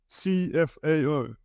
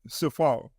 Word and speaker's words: CFAO: make sense of it cfao is pronounced as it says cfao and not Safar cfao stands for Corporation